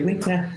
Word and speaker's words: Ghibli: Am I pronouncing it right? Yeah. Studio Ghibli.